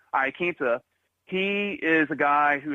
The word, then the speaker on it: Iaquinta: Because Iaquinta over here, excuse me, I was mispronouncing his name, Iaquinta, he is a guy who has had some